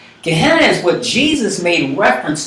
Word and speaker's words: Gehenna: Valentina but in Greek that valley phenom is pronounced Gehenna Gehenna is what Jesus made reference to repeatedly in